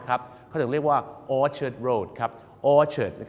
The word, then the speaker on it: orchard: ard น นะ ครับ ครา นี้ ลง ท้าย ด้วย ard เนี่ย บ้าน เรา สำเนียง เรา นั นะ ครับ จะ ไป สล ใส่ สระ อา กัน ไป เ นะ ครับ แต่ อยาก จะ บอก นะ ครับ ว่า ของ ฝรั่ง หรือ ภาษา อังกฤษ ก็ ใส่ สระ เออ กัน หมด ครับ orchard นั่น เอง